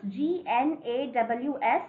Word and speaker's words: gnaw: Children, you have to pronounce this G-N-A-W-S, gnaw.